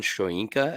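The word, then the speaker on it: Shoyinka: it's uh Joe Tryon shoenka I believe is how you say that second part of his name but uh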